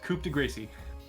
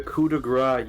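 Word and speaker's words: coup de grâce: Ithilden, it's time for the old coup de Gracie. The coup de grace, you goblin. I said it wrong on purpose.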